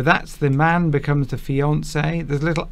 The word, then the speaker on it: fiancé: And then once you're once you've accepted that proposal, then the man you're engaged to becomes your fiance. Oh. So that's the man becomes the fiance.